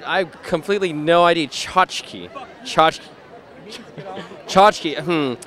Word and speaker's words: tchotchke: Isn't it chachki?